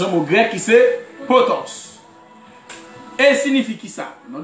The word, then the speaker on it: potos: mot grec, on quoi vient du mot grec potos. Potos qui s'écrit P-O-T-O-S.